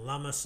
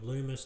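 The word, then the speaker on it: Lummis: pat toomey uh and lummus and all the rest of it who are loomis depending on how you say it hopefully they still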